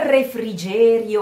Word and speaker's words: refrigerio: Un refrigerio ai venti.